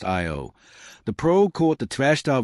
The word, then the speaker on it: Io: On Io, pronounced Io, the probe caught the Trashta volcano in action, capturing a volcanic eruption that reached 200 m 320 km into space.